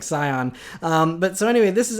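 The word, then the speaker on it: Sián: and it's the Scion I think is cyan maybe it's how you pronounce it says it's not like Scion but so anyway this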